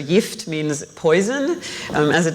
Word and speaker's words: gift: um called gift which if you were to pronounce this word gift in Swedish which by the way is the language that I grew up speaking at home with my mother and still speak with her so yft means poison um as